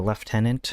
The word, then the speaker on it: lieutenant: could just be the left tenant as you call it well it's spelled Lieutenant for Americans is left tenant for British people were there any were